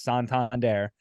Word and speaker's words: Santander: don't even know this Santander guy it's like they're saying his name wrong they're they're doing all that and now those are the guys saying like no no it's Santander and like here's why he's